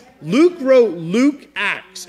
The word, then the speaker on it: Luke: His name rhymes with puke. Luke, very good.